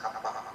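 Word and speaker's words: Kapha: about body types Kapa by the way it's pronounced Kapa not K okay and these are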